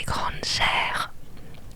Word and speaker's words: Granger: Je disais pas Granger, je disais Granger. Parce que mon nom de famille se termine par ER et ça se prononce R.